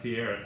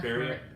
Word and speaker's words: Faria: Next one, Victoria Carlson, Tatiana Fiera. How do you say her last name? Tatiana Faria. I've been saying it wrong this whole time.